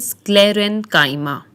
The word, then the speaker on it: sclerenchyma: There are three types of supporting tissues or simple permanent tissues, and they are pronounced as parenchyma, collenchyma, and sclerenchyma.